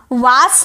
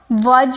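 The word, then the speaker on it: was: वास नहीं बोलिएगा। डब्ल्यू ए एस वास नहीं। वाज ज ज़ वज भी नहीं ज़ वाज़ वाज़ वाज़ ओके अच्छे से प्रोनाउंस कीजिएगा।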